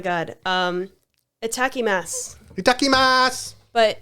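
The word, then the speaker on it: いただきます: um a tacky Mass itakimasu but it's a takimasu written but the U is um silent so attacking mat so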